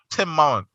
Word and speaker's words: Timon: Timon. Yeah, it's from the Bible. How do you pronounce both of the M's? He said the other M is silent.